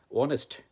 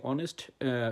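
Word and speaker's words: honest: এক্সাম্পলবা উদাহরণ বলতে পারি অনেস্ট হ্যা হ্যা সাইলেন্ট এইচ এখানে অনেস্ট শব্দে এইচ নিঃশব্দ এইচও এন এসটি অনেস্ট আমরা কিন্তু এইটাকে উচ্চারণ করছি না।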